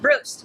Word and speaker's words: Brust: Brust. Brust.